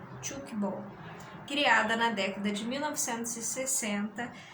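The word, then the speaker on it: tchoukball: Pronuncia-se chukball.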